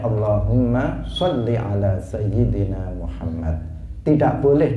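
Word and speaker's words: اللهم صل: kita membaca Allahumma sholli Maka jangan dipanjangkan jangan di wajah Oh ya ini enggak boleh diucapkan Allahumma sholli tidak boleh karena jika ditambah ya maka dalam bahasa Arab itu menunjukkan apa menunjukkan arti perempuan mukhotobah yang dituju itu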